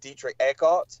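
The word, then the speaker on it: Dietrich Eckart: He had um Dietrich Eart is am I pronouncing that correctly Douglas?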